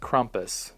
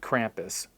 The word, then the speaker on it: Krampus: The Krampus Dunlow apparently pronounced Krampus, not Krampus. Krampus.